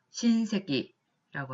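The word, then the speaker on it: 親戚: 그래서 이거 마찬가지로 친족이라고 하는 한자 자체를 음독을 해서 신조그 라고 읽으시면 되겠고요. 그 다음 한자야말로 친척이라고 쓰여 있죠. 이것도 마찬가지로 음독을 하셔서 신세기라고 하면 친척 혹은 같은 집안 사람이라는 의미로 사용을 할 수가 있겠습니다.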